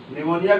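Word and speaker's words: pneumonia: निमोनिया की spelling P से start होती है, पी साइलेंट है।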